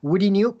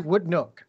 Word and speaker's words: Woodneuk: over the years there have been many different pronunciations some people call it woody new some people call in wooden Nayak it's actually would look okay we actually went to how to pronounce